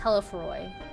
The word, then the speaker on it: Telephoroi: He sought only to make a show of the power at the Telephoroi's disposal. It's pronounced Telephoroi, as Rabban says it at least.